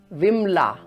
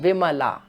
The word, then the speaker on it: Vimala: For example, when we pronounce this word, it is Kamala, Kamala. But when the same word becomes a feminine word like Kamala, then most probably we are going to pronounce it as Kamla, Kamla, or Vimla instead of Vimala.